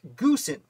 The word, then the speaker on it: Goose: ways but more importantly his first name is probably pronounced gusen now this is because